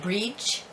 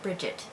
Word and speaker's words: Brigit: My youngest daughter, her first name is Brigit, but it could also be pronounced or spelled or pronounced Brid, which is a little bit more traditional, of course, but we do spell it Brigit and we pronounce it Brigit.